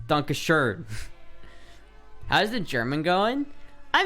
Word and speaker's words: Dankeschön: I call it like Dankeschön. And it's pronounced Dankeschön in the fucking song. And like 90% of Americans say Dankeschön. It's not Dankeschön. It's Dankeschön.